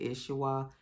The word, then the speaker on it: Isaiah: I pronounce it Ishwa. So he is Kobe Ishwa.